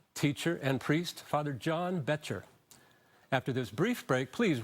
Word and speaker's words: Boettcher: to mosaic with me today is father John Boettcher Bo TT CH er I just learned how to pronounce and father better thank you for joining